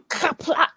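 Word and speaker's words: Qapla': It kind of makes you do that thing at the end. Mm-hmm. Kapla. Just because it lends itself to that sound.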